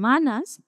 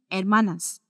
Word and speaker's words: hermanas: they are sisters and Manas if you guys remember H is always silent when we were doing